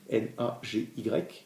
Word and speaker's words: Nagy: Alors excusez-moi, mais je le prononcerai à la française, parce qu'il a un nom épouvantable à prononcer en hongrois, c'est Imre Nagy. Ça s'écrit Nagy, N-A-G-Y, mais il prononce Nagy, qui a été assassiné